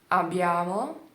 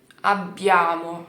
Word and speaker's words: abbiamo: Mas o B, você vai segurar um pouco mais aqui no lábio. Então, abbiamo, abbiamo, abbiamo. Você vai prensar para poder falar com mais facilidade, tá bom?